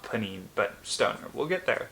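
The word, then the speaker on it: Pnin: 38 on this list I think it's pronounced panine I'm not looking it up it's spelled PN i n it's by novakov Vladimir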